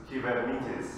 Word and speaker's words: Kubernetes: It's true, because it's a Greek word, and I'm originally from Cyprus, where Greek is one of the languages. And the right way of saying Kubernetes is Kubernetes, right?